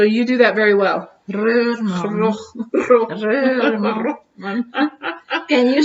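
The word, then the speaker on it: Rohrman: Reurman.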